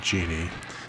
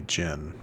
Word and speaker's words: genie: because yeah, with the with the extra I that does become genie. If it didn't have it, it would just be Jin. Yeah, the D is always silent. So, yeah, genie.